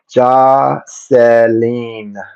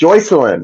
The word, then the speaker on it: Joycelyn: Jocelyn. No, it's Joycelyn. It's Joy. Her name is spelled Joycelyn.